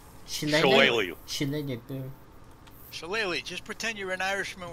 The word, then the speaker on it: shillelagh: using the ash you like how would you pronounce it she she then you do shillelagh just pretend you're an Irishman with a club